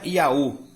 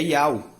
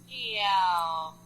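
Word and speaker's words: Ιαω: Então, não é Iaú, é Iau. Yao.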